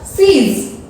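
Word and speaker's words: seize: अब स्टूडेंट्स 11 से लेकर 16 तक सभी की स्पेलिंग्स की एंड में है ZE। आप देख रहे हो मैंने सभी की स्पेलिंग्स में लगाया है ZE। और जो अगर हम उनकी प्रोनाउंसिएशन के अंदर देखें तो सभी में लिखा है ज के नीचे डॉट लगने से वो बन जाता है ज, तो उसको प्रोनाउंस में हम करेंगे ज।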